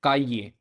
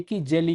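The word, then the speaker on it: calle: हैं particularly Argentina, Uruguay और सम regions Spain के, उनके अंदर जो साउंड रहती है डबल एल की वो रहती है जो जे की जेली के अंदर रहती है, जेली के अंदर जे। तो जावे, जावे की, जामा, जामा मतलब फ्लेम, काजे, काजे मतलब स्ट्रीट।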